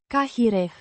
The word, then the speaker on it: care: A relative pronoun meaning which or that, pronounced Cahireh. with stress on the first syllable.